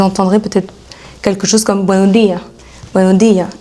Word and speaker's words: buenos días: Donc vous entendrez peut-être quelque chose comme buenos días, et on n'entend pas le S. Donc ça s'arrête à la buenos días. Mais ils savent très bien qu'il y a un S, c'est juste qu'ils ne le prononcent pas.